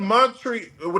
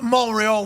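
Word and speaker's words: Montréal: Hey, man, were you in Montreal? They don't pronounce the T. Weren't you in Montreal last night? Montreal, oui, Chuck, oui.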